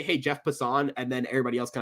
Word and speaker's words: Passan: Pronounce Pisson. Passin.